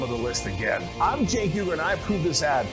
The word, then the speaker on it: Cenk Uygur: I'm Cenk Uygur, and yeah, this C is pronounced like a J.